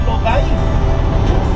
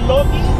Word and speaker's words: Lodi: Así es que vamos allá a la ciudad de Lodi. Se escribe Lodi, así de esa manera, L-O-D-I, Lodi, California, o Lodi, California.